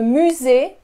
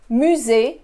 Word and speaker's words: musée: Le musée, musée. Notice I don't pronounce the second E.